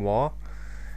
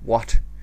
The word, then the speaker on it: Waugh: My real name is Waugh, and the Waugh is spelled W-A-U-G-H, because it's not what or wall or wow or wag or whatever.